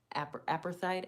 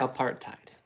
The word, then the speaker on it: apartheid: the twilight of um, apathide. Apathy, I think is how you say that. And the tumultuous days of freedom that followed. So, yeah. Apartheid. What? That's how you say it.